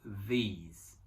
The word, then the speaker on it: these: Então a gente fala singular, this, plural, these. These. Então no singular, o I é pronunciado como se fosse um E. Então fala this. E no plural é som de I mesmo, these.